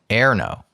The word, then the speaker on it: Erno: And under the pronunciation help, he wrote E as in enter. But I'm fine with any pronunciation. So he gave us help on the first name, Erno.